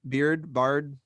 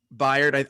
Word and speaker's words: Byard: I think they have who's their safety that is it Bird? How do you pronounce it? Byard, I think is actually how it's pronounced.